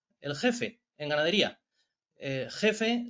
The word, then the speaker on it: GEF: jefe en ganadería eh Jefe se dice igual con j que con g jefe la cuestión está en